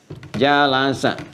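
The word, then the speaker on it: جلس: Jalasa. Bacanya pakai bahasa Arab ya, jangan pakai bahasa Inggris, jealous gitu.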